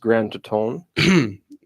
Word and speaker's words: Grand Teton: I This believe it's is, pronounced Grand Teton.